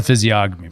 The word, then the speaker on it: physiognomy: That's the physiognomy part. That's like what physiognomy is like how somebody's face evokes in you. Yeah. Physiognomy. Physiognomy. Did I say it wrong? I think it's a silent G.